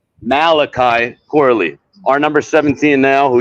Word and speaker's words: Malachi Corley: special package with like some, I don't know, Macaulay Corley. Did I say it right? Malachi Corley.